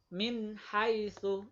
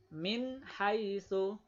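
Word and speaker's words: مِنْ حَيْثُ: Seperti contohnya ini, nun sukun ketemu dengan ha, harus jelas. Min, ha, ya. Jelas ini min, ini ha. Jadi membacanya seperti wujud aslinya. Min haitsu, ini ya. Min haitsu.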